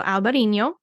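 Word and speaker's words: Albariño: fan so in Albino it's spelled a lb a a r i n o a little till a over the end so alberino the second option is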